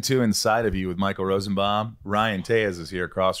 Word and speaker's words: Rosenbaum: And when my car reads your name back, it says Michael Rosenbaum. The robot says Baum. You know, Baum is the right way to say it.